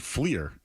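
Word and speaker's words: Fliehr: His real name is Richard Fleer, but he goes by Rick Flair.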